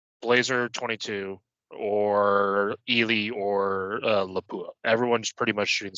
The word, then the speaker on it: Lapua: Like everyone's shooting like Blazer 22 or Ely or Lapua. Everyone's pretty much shooting the same, or SK. It puts everyone. Pronounced Lapua.